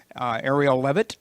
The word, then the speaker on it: Arielle Leavitt: And so I would like to, Arielle Leavitt. Ooh, very good pronunciation.